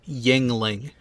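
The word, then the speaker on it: Yuengling: the bag language yes the actual pronunciation of the name of that Brewery is Yingling you gotta remember I'm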